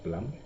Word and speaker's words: Blum: I always pronounce it Bloom, but apparently it's Blum.